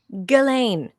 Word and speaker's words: Ghislaine: So the only real perpetrators were Jeffrey and and Jizlane, right? Galain.